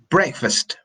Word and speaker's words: breakfast: little pronunciation program and breakfast breakfast breakfast breakfast it's the final team and this one it is very common to try and eliminate this final letter okay it's very common